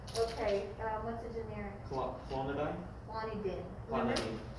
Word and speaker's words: clonidine: Clonidine. Remember in pharmacy, we don't say "ein." The Americans pronounce it as "ein." Diphenhydramine, not mine.